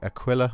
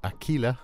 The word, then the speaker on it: Aquila: shade and Shadow into the Aquila or Aquila as I've been told it should be pronounced and we're going to